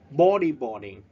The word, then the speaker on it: bodyboarding: Bodyboarding. We stress at the first syllable, những vần đầu.